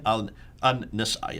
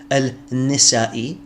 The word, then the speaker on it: Al-Nasa'i: Al-Fadi, his name is not Al-Nisa'i, it's Al-Nasa'i.